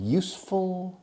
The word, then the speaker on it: useful: Is this class, in your opinion, useful? Ojo, no digo useful. Son dos sílabas.